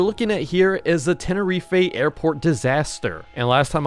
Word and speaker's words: Tenerife: it literally says here, Tenerife. Scammers get scammed, but the British do pronounce it like this. Tenerife.